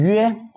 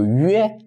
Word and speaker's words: 约: And then when 约 is within a syllable after G7C, like JQX, is spelled and typed in the same way, but it is different from here.